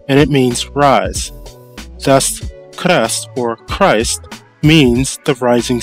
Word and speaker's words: KRST: for Christ spelled krst can be broken into the following two syllables car and rest the k sound is